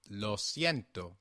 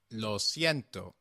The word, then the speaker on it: lo siento: is los ciento try saying it yourself please lo siento one more time lo siento excellent do you remember what we have seen